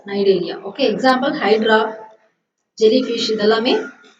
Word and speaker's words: Cnidaria: Okay, C is silent here, so we have to pronounce this as Cnidaria.